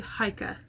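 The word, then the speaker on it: Haakaa: that is essential is the hika that's how you pronounce it and this is awesome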